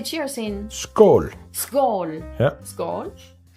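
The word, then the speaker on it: skål: you cheers how do you say cheers in skull skull yeah skull I can taste the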